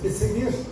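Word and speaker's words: Puységur: Havia, inclusive, um grande médico dessa área, chamado Marquês de Pessaguir, escreve Pessegur, mas pronuncia Pesseguir, que ele magnetizava árvores em Campos Elíseos, no Campos Elíseos, onde as pessoas abraçavam essas árvores e eram beneficiadas.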